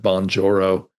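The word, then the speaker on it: Bonjoro: and give them a three or four minute bonjourro that's spelled B O N J O R O.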